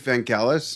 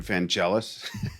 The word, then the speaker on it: Vangelis: you ever heard of van gaalis and i said no and i think at the time we were pronouncing it van jealous we were kids yeah yeah we didn't speak greek and he played it